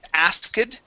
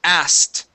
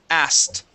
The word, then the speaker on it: asked: word you had said asid okay the trick here with the word is that excuse me we don't pronounce the k okay it's pronounced like this asked asked okay as as okay